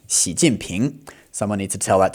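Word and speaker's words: 习近平: And if we say the whole thing together, it's going to be second tone, fourth tone, second tone. Xi Jinping.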